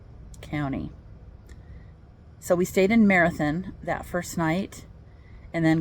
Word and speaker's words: Marathon: away from here, northeast, that is spelled marathon but pronounced marathon, just like I live